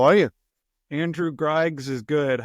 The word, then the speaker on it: Griggs: Andrew Griggs is good.